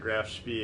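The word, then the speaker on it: Graf Spee: And they did say Grafspee is Grafspee, so those two I'm saying correctly according to those guys.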